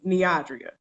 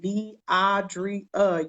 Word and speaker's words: Neodria: Her name is Neodria. And I felt comfortable enough to always say my name. When you don't pronounce my name correctly, I'm going to give